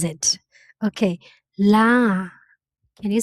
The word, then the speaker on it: လား: Okay, la. Can you say it? La. Okay, it sounds like the vowel in car, far, but there is one difference. In Burmese, we don't say rot sound, so we have to say la.